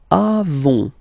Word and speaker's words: avons: Then nous avons. Final S not pronounced.